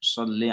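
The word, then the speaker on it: صَلِّ: Allahumma sholli ala Sayyidina Muhammad contohnya ya. Jadi sholli di situ jangan dipanjangin, sholli itu pendek ya.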